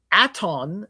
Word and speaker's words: Aton: atu at uh aton is T I believe it's a T O N. Okay. Aton aton like atonism.